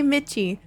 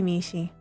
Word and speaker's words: Mishi: was your pronouns no Mishi is how you say my name some people say mitchi but other people say Mishi it's supposed to be Mishi I forgot the raid